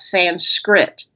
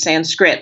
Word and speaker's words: Sanskrit: English and that's not I've heard yoga teachers say sans script and I want you not to say that it's Sanskrit like you did.